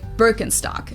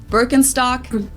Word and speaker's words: Birkenstock: the world nowadays and it's natural that people pronounce it with their native accent so English speakers usually say burkenstock in German we say bstock Birkenstock bstock which literally translates to Birch stick the